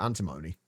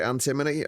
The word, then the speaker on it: antimony: Oh, antim uh antimony. Oh, that's another one that I think I uh I uh technically mispronounce. I always pronounce it antimony, but I think it's actually pronounced antimony.